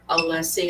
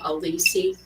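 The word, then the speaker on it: Alessi: Um, and the fact that Hank commit the fact that Hank cannot pronounce Robert Allessie and he keeps calling him Alissi.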